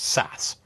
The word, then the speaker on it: SaaS: number of acronyms available the first is saas or software as a service sometimes pronounced SAS this is the idea